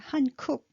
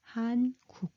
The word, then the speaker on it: 한국: And now what you're learning, and you pronounce it Hankuk. No, we pronounce it 한국.